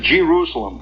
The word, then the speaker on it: Jerusalem: there is there's the big sign it says Jerusalem in theana and you can whistling it Jerusalem by the way is the way it's pronounced out there you start coming into Jerusalem